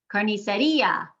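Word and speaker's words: carnicería: Carniceria, that I has been separated from the A next to it with a written accent mark.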